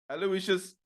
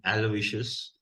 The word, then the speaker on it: Aloysius: Greenpoint Saint John's and there I was told the proper pronunciation which is Aloysius and not Aloysius or a Lucius Okay cool so so